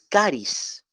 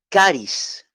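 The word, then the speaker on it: χάρις: palabra gracia en el griego es caris Cómo se escribe describe c o también K está a r i s karis se lo repito k a r i s Cádiz cáriz de ahí viene la palabra carisma no un carisma un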